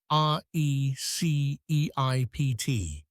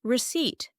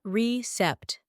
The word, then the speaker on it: receipt: The paper confirmation they give you is called a receipt. RECEIPT. But you didn't pronounce the P. Correct. The P is silent. It is receipt, not recept, just receipt.